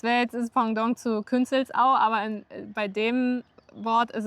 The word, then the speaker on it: Künzelsau: Nein, das spricht man Künzelsau aus.